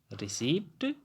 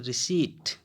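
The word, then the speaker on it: receipt: आप लोग यही पढ़ेंगे ना, रिसीप्ट, आधा पा ओटा, रिसीप्ट। लेकिन ये गलत है। इसका जो सही में या एक्चुअल में जो प्रोनाउंसिएशन होता है वो होता है रिसीट।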